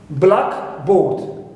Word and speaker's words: blackboard: Now, we always stress the first part, clear, which is black. But if I have the phrase a blackboard, it means any board which is black, clear, a blackboard. Here I have noun phrase, which is not compound noun, so here I stress the second word, which is board.